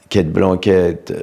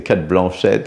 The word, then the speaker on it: Cate Blanchett: Brad Pitt et Cate Blanchett, je prononce très mal, hein, c'est Cate Blanchett. En fait, moi, ça s'appelle Cate Blanchett, à la française.